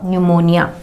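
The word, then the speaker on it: pneumonia: तो यहाँ पर पी के तुरंत बाद एन आ रहा है, पी के तुरंत बाद एन आ रहा है, इसीलिए यहाँ पे पी को प्रोनाउंस नहीं करेंगे, पी साइलेंट होगा, न्यूमोनिया।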